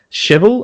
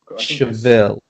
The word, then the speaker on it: Chevelle: We have Cheval. I'm definitely pronouncing the title of the band correctly there. I think Chevelle? Chevelle, I think, yeah. Chevelle, okay.